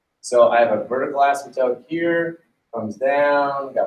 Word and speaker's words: asymptote: future which as it turns out is our asymptotes by the way the word asymptote the penis silent asymptotes that's a whole lot more cool